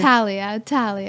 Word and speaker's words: Thalia: Thalia. Oh, Thalia. Yes. I'm sorry. I'm looking at your name was covered by red. Thalia Millan. Yes. And so anyhow, we are going to be back with Thalia Millan in just a short break on Meldon